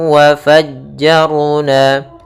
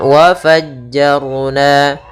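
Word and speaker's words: وَفَجَّرْنَا: Kemudian wa fajjarna, ra di sini tebal, jangan dibaca wa fajjarna tapi wa fajjar, wa fajjarna fiha.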